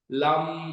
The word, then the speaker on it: लम: उसका बीच मंत्र है लम एल ए एम तो उसका उच्चारण हम जब करते है स्ट्रेच लाम ऐसे करके हम लोग स्ट्रेच करते है वैसे ही सक्रल